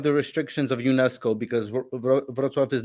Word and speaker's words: Wrocław: heard a lot of good things about it's spelled Rocklaw, I guess, in English. In Polish, Rocklaw. it's Wrocław.